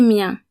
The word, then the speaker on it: miens: Remember that the final S is silent, so for example, mien in du mien or des miens is pronounced exactly the same.